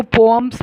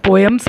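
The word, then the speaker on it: poems: इनको पोअम्स बोलते हैं, वैसे तो कॉमनली लोग पोएम्स बोलते हैं, बट इसकी करेक्ट प्रोनाउंसिएशन पोअम्स है।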